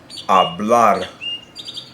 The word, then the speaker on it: hablar: Now, if you have a word that ends in a consonant other than N or S, the natural stress will be on the very last syllable, such as hablar.